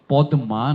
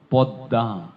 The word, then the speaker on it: পদ্মা: gross so গষ স এটা একসাথে করলে কি হবে গৃসম একইভাবে পদমা নয় পদ্দা শেষের দয়ে চন্দ্রবিন্দু পদদা বোঝা গেল গৃসম পদ্মা